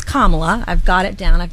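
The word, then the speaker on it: Kamala: the news every day I know how to say it now it's kamla I've got it down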